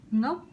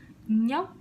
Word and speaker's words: Ngốc: For example, please try to pronounce this. Ngốc. Did you try it? I think you just said nhóc. 90% my students, they pronounce like that when the first time they pronounce the ng sound because they think it's similar, but it's actually different and doesn't make sense.